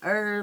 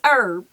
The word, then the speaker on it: herb: cooking with a different herb herbs and don't don't be trying to correct me on how I pronounce herb okay it's herb herb it could be herb to you but it's herb all right um I